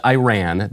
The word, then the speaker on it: Iran: But then Michael said, so anyway, Iran, I know this is a problem because it is pronounced Iran. That is how Americans ought to pronounce the name of the country.